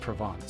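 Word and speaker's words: Provence: provance I mean it's it's the name of a region in France that is pronounced provance so probably oh yeah didn't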